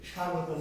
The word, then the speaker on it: স্বাগতম: স্বাগতম। বয়ের উচ্চারণ আমরা করব।